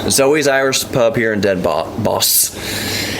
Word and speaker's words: Den Bosch: Not Den Bosch. It's like boss. Den Bosch.